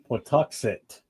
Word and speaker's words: Pawtuxet: Pawtuxet.